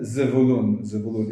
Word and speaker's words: Zevulun: And Zevulun. It should be a V, not a B, because there's no dot in the Zevulun.